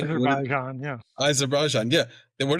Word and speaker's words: Azerbaijan: Did I mispronounce that, guys? Say Azerbaijan, yeah.